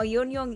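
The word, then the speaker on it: yuenyeung: in malaysia um oh yonyoung is the cantonese language pronunciation uh it's popular in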